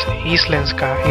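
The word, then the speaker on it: íslenska: Icelandic pronounced as Islenska is a north Germanic language the main language of Iceland.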